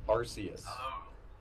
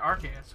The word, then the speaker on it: Arceus: sign yeah I mean I always learned the Pokemon name was a Arceus that's how a pokémon battle revolution pronounces it but the film pronounces it Arceus with a K sound and that was the